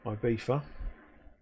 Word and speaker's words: Ibiza: Such a Kent pronunciation, isn't it? Ibiza. And it speaks around in Spanish. It's Ibiza.